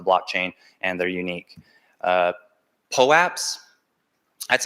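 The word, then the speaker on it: POAP: represented on the blockchain and they're unique uh po apps that's how I pronounce it that's tell the company that creates them calls it but there's lots of pronunciation lots of people say popes um it just stands for proof of attendance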